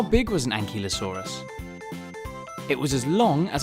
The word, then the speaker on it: ankylosaurus: velociraptor bye velociraptor how do you say that again an key low saw russ how big was an ankylosaurus it was as long